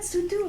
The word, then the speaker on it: Sotho: Yes, I was like, isn't it Sutu? Why have they spelled it like No, that's how it's spelled. Is it? Yeah, but it's I think an O Sutu. sounds like an ooh in Because I was gonna